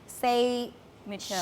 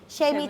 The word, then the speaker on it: Shay Mitchell: Itu katanya Say Mitchell. Shay, gimana sih bacanya Iya. Shay Mitchell.